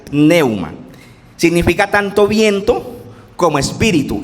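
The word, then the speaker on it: πνεῦμα: En el Nuevo Testamento está escrito en griego y se pronuncia neuma con p adelante. Pneuma significa tanto viento como espíritu.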